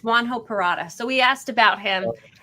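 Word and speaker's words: Juan José Purata: same thing we're like how do you say his name it's juan ho parata so we asked about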